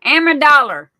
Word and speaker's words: Amendola: Amendola. Amendola. That's the way Debbie pronounced her name. Amendola.